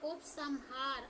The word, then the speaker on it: उपसंहार: असतो निश्च नहीं है सा में बिंदी लगी है उसका उच्चारण तुमने आधा म कर दिया है आधा न करना है उतार उसने बोला था उत्सहार आपने ऐसा बोला था उपसंहार आधा म लगा दिया था आधा न लगाना है ठीक है उपसंहार हां